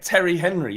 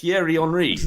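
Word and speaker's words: Thierry Henry: yeah but it's not Terry Henry is it it's tiar HRI it's the way it's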